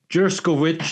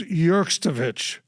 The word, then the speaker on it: Jurovich: heard that the Sophie jurovich is back with nessen so that's major news all right well that is Major news but if you're gonna say her name her last name is yovich yovich thanks John yeah so